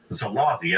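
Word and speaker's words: Szálasi: commanded the army of Arrow Cross Chief Ferenc Zalati, S-Z-A-L-A-S-I, executed as a war criminal against the Russians in World War II.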